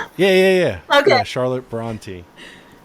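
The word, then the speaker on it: Brontë: who's the author of jane eyre charlotte branski bronski i don't know how to pronounce that is that like bro bronson bronski i think it is i think it's bronte bronte something is that right yeah yeah yeah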